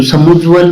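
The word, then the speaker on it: समुज्ज्वल: समुज्वल होता है तो समुज्वल में क्या होता है कि इसमें दोनों ज आते हैं ना वो आधे आते हैं तो जैसे उज्जवल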